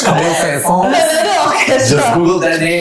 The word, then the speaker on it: Camille Saint-Saëns: If you pronounce it in French, Camille Saint-Saëns.